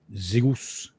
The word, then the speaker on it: Zeus: something that protects both zeus or as it's pronounced in the greek zeus and athena his daughter